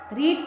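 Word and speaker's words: read: रीड की second form का pronunciation होगा रेड और थर्ड फॉर्म का रीड की थर्ड फॉर्म रीड होगी।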